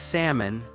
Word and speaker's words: salmon: It's the same with salmon. The L is silent.